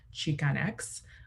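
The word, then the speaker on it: Chicanx: myself and that is cheek on x um which there's multiple spellings but uh the pronunciation is the same um so this is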